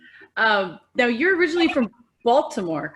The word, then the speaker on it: Baltimore: now you're originally from baltimore correct it's pronounced bomber i like that and